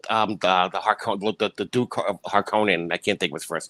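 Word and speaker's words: Harkonnen: the new ones in in the new Dunes they pronounce it harkening it's Honan it's haran I watch this movie a thousand times it's har Conan stop saying yeah stop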